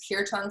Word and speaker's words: kirtan: our facebook page is kirtan st john so k-i-r-t-a-n it's protect it's pronounced kirtan there's no accent on one or the other here tan um so